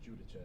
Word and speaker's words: Giudice: So I say Giudice is the correct way to say it. But when people ask the Italian way, it's Giudice. But just for simpler terms, Giudice.